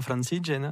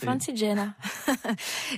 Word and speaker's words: Francigena: on prononce comme ça Oui, en italien Francigena. Ah c'est mieux, Francigena.